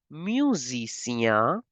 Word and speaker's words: musicien: Musician as musicien. Music, the S is between two vowels. So like we have pronounced it for mechanic, mécanicien, mécanicienne. The similar endings are here.